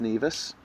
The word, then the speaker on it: Nevis: Kitts and Nevis, but it's actually pronounced Nevis.